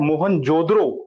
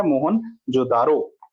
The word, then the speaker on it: मोहनजोदड़ो: ठीक है, मोहनजोदड़ो है वैसे इसकी प्रॉपर प्रोनाउंसिएशन, बट हम क्या बोलते हैं, मोहनजोदारो।